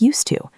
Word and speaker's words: used to: The pronunciation is exactly the same. It still sounds like used to.